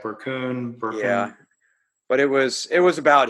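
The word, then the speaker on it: Berkun: Scott Burkun, how do you say it? Burkun.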